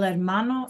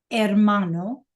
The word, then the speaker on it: hermano: Clase el hermano, like we saw in the video, el hermano is brother. Remember, the H is silent. El hermano.